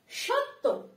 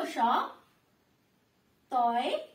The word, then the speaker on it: সত্য: স, দন্ত স, তয় জফলা, সত্য, সত্য। প্রথমে আমি বলেছি যে শব্দের সাথে জফলা ব্যবহার করা হয় সেই শব্দ কিন্তু দুবারের মতো উচ্চারণ হয়, যেমন সত্য তো।